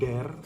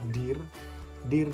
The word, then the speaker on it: dear: Tadi kakak mendengar di istilah menyebutkan dare, padahal yang benar adalah dear dream.